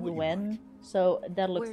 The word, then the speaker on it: Nguyen: As long as you're Nguyen, courteous to the but it's- neighbors, it's pronounced do what you when.